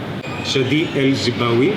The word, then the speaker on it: Chadi El Zibaoui: This is the Associate Creative Director of Ubisoft Annecy, Chadi El Zibaoui.